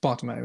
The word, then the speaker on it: Bartomeu: It's Bartomeu, isn't it? That's how you say it.